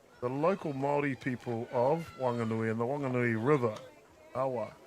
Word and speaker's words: Whanganui: So normally that would be pronounced Fanganui. However, the local Mai people of Wanganui and the Wanganui River Awa uh their dialect does not pronounce H's language.